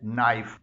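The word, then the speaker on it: knife: से निकल रही है किसी भी वर्ड के शुरू में आने वाला के जब उसके फौरी बाद एन आए तो ऐसा के खामोश होता है जैसे से नाइफ इस वर्ड का आगाज के से हुआ है और उसके फौरन बाद एन आया है इसी तरह नी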